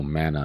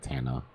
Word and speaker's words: Mana: Mana, not Tana.